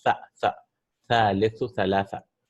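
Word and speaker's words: ثلاثة: Sa should be pronounced like with the tongue out, right? It's not seen. It's tha, tha, thalithu, thalatha, right?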